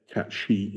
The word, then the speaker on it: Cait Sith: so it's like but um Star Wars yeah cat she is space film um okay no well let's